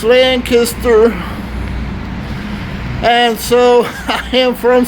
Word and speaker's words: Lancaster: Hey, Dakman, it's not Lancaster. You're saying it wrong. It's Lancaster. And so I am from South Jersey, and we do say things differently. So we say Lancaster, However, you talk to